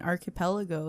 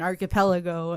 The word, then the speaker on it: archipelago: don't know what an archipelago is. They also pronounce it as archipelago.